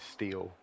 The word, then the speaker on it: Steele: So we've just been told by Phoenix to pronounce his name as Steele.